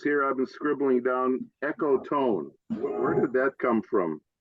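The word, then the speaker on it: ecotone: got some phrases here I've been scribbling down Echo tone where did that come from am I getting that right e c o t o n e yeah I would pronounce it eone but okay yeah it's an enir it's an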